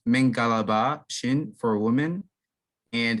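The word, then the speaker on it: မင်္ဂလာပါ: It's pronounced Mingalaba Shin for women, and it's pronounced Mingalaba Kinba for men.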